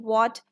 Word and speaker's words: what: After this, we have WH spelling of the walk sound, as in what, when. H is silent, we only say the W.